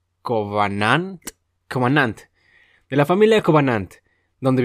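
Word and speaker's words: Khovananth: es que a ver es una K una H una o una a w una a una n a n t h se pronuncia covan cant de la familia covan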